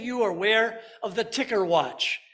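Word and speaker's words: Tikker: how many of you are aware of the ticker watch it's spelled t-i-k-k-e-r which is available for you online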